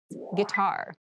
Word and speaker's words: guitar: Guitar. Guitar. Guitar. This word has kind of an interesting spelling. It starts with G-U-I, but we pronounce this as git.